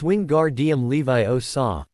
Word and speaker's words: Wingardium Leviosa: You're saying it wrong, Harry said to them after a while. It's<unk> wing Gard Levi Oaw. Make the gar nice and long.